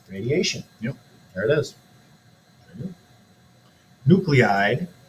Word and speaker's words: nuclide: Nuclide, which is a weird way to say that word because that looks like nuclide. It's both. I've only heard it's pronounced nucleide.